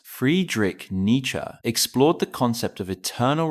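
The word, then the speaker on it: Friedrich Nietzsche: The philosopher Friedrich Ner pronounced Friedrich nature explored the concept of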